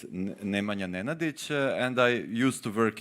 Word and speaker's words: Nemanja Nenadić: Well, yeah, first about pronunciation. For those interested, it's Nemanja Nenadić, and I used to work in court 25